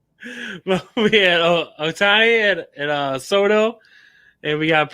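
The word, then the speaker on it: Ohtani: But Otani, is that what I'd say it? Otani and Soto. I butchered that fucking name, didn't I?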